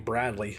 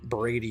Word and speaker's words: Brady: Oh, I keep on calling you Bradley. Brady, I'm sorry, buddy.